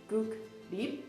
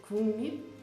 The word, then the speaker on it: 국립: For example, there's of course those Hangul words that don't have the same pronunciation as the Hangul has written. So for example, 국립, it's not 국립, it's 국립.